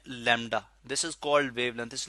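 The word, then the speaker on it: λ: Distance है, इस distance को हम कहते हैं lambda. This is called wavelength. इस लैम्डा को एक ग्रीक लेटर है जी लैम्डा, मैं यहाँ पे लिख भी देता हूँ इसके स्पेल।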